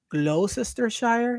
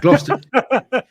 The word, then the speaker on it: Gloucestershire: Gloucestershire. Gloucestershire. Gloucestershire. Gloucestershire. Okay. Yeah. It does. Yeah. If you see the letters on the page, the word on the page, it doesn't sound like that, but that's how you pronounce it.